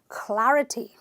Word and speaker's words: clarity: syllables sure good and this word ends with the Y which means I'm gonna stress a liberal number one and say clarity please give me some